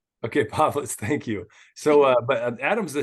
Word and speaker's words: Povlitz: The first one was right, Povlitz. Okay, Povlitz.